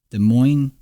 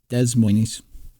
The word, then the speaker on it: Des Moines: Instead, we must call it Des Moines, or you can say it like it's spelled, Des Moines. No, you can't say it like it's spelled. Don't do that.